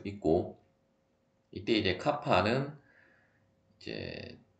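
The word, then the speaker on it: κ: 식은 다시 C제곱은 KRT가 되게 되고, KRT가 아니라 카파 RT가 되게 되고, 물론 뭐 어떤 사람은 K라고 그 발음을 하시는 분들도 있는데, 어쨌든 뭐 비열비는 일반적으로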